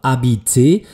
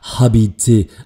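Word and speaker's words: habite: das kann ich tun weil das Verb Abit mit einem nicht ausgesprochenen h beginnt würde das H ausgesprochen werden dann wäre es ja hab aber das ist es eben nicht es ist ein nicht ausgesprochenes h Abi damit beginnt mein Verb mit A mit einem Vokal und damit tritt die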